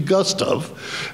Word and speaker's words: Gustave: the audience last year it should be Gustov at least that's what Anne always called him and we all call